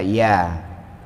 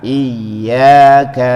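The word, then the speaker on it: إِيَّاكَ: Contohnya iya, nggak boleh dibaca iya. Iya karena abudu, iya karena nasta'in, itu bahaya itu. Artinya nanti berbahaya itu. Harus tasdik itu melempit dua huruf yang sama jadi satu. Maka bacanya ditekan iyyaka na'budu wa iyyaka nasta'in.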